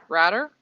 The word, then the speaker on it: Ratter: Henry Ratter, rhymes with ladder, asking how's mom and dad.